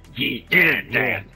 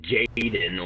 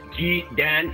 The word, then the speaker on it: Jedan: It's pronounced Jedan. Well, most people go Sergeant Jaden or some other stupid shit, so I'm like, pronounced Jedan for the fucking record.